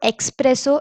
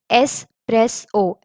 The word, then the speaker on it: espresso: So the first thing I'll be talking about is the pronunciation of it. It's not espresso, it's espresso.